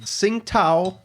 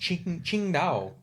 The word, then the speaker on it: Tsingtao: Tsingtao. Qingdao. I think it's actually Chinese. pronounced Qingdao.